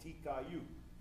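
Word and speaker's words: Ti Caillou: Chauvin, but the whole bay is Little Caillou, and in French it's called Tikayu, and it rhymed with Rougarou.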